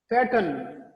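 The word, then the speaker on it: pattern: Then P-A-T-T-E-R-N, पैटर्न, इनको modern या पैटर्न आप प्रोनाउंस ना करें, मॉडर्न, पैटर्न।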